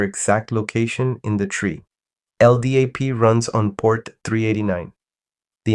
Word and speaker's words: LDAP: LDAP, pronounced LDAP, stands for Lightweight Directory Access Protocol.